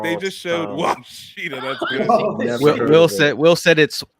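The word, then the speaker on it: Ouachita: senior they from just- Wawachita State. They just making picks Sorry, up and shit. These people Washita. don't even exist. It's Washita. Washita? Yeah. Man, tell them to spell it right then.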